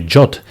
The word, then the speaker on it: JWT: By the way, the suggested pronunciation for JWT is actually Jot as stated by its creator, but just sounds a little bit weird to me and um I heard mostly people call it just JWTs or just tokens.